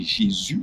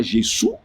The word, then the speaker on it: Jésus: Par exemple, le jour quand nous avons commencé, on leur a dit qu'il faut prononcer Jésus, Jésus-Christ. Ce n'est pas Jésus, ce qui est normal parce qu'à cause de leur background anglophone, c'est normal.